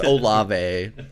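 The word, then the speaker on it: Olave: We know it's Olive.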